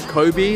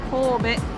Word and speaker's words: Kobe: Now everyone calls it Kobe, like Kobe Bryant, but the real way to say it is Kobe.